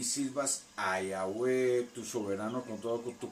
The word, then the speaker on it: Yahweh: Y la pronunciación correcta de su nombre es Yahweh. Yod, He, Bau, He. Yahweh.